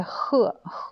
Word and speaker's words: 和: Ensuite, la deuxième prononciation, c'est 赫. Quatrième don, ici, ça veut dire 附和, ça veut dire s'associer au point de vue de quelqu'un.